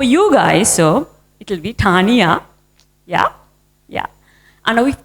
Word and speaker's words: Taniya: of tough for you guys so it'll be Tanya yeah yeah I know if that's very complicated